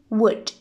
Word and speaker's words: would: in the world would we must imagine that the L sound the loose and is silent okay I mean we should say wood okay now I think